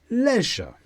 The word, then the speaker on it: leisure: activities it's a noun with the stress on leisure and look at the